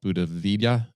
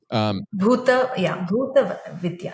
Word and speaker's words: Bhuta Vidya: Well, I think it's called Buddha Vidya. Am I pronouncing that correctly? Yeah. Bhuta Vidya.